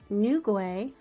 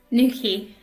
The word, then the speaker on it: Newquay: They utilize the state-of-the-art facilities at Cornwall Airport, Newquay. Is that how you pronounce that? Newquay.